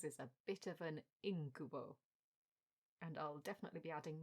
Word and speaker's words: incubo: However, I heard the detective in this novel say incubo. And I thought, hang on a mo. Yes, I'd been saying it wrong all along. Should have gone with the same stress as incubus.